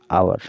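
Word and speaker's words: hour: watching match for वन आवर ठीक है इसको ववर नहीं आवर पढ़ा जाएगा यहां पर साइलेंट रहता है तो ध्यान दीजिएगा ठीक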